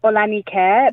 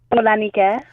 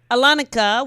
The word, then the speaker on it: Olanike: My name is Olanike, but it's Nike, but it's spelled like Nike.